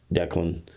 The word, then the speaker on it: Declan: And again, Declan, is that how we pronounce it? Yeah, it's definitely, it's pronounced like CK.